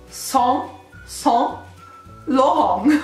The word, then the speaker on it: Saint Laurent: Ok, allora, io adesso non so se riesco veramente a leggerla bene, la pronuncia comunque dovrebbe essere Saint Laurent, ok, Saint Laurent, ok, una roba del genere. Questa R è sempre moscia alla francese.